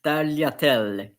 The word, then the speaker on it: tagliatelle: Gnocchi is like you can say tagliatelle, but normally in Italian it's tagliatelle.